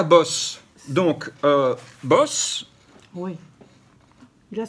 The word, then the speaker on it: Bosch: dans l'émission précédente ou les Français disent Bosch bon ça n'a rien à voir avec l'électroménager ni avec la guerre mondiale c'est boss on prononce boss voilà mais là où